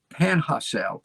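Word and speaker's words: Panajachel: e l pana pana panha cell panhacel my wife tells me that's how to pronounce it nicaragua three homes plus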